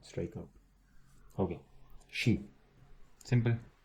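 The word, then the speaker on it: し: But now, so first we have Sa, and Secondly, instead of C, instead of having this, we have an H in between. So it basically becomes she.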